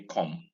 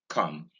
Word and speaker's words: come: You don't round your lips. Nigerians say come, rounding the lips. No, don't round your lips for this. Just say come without rounding your mouth, without rounding your lips.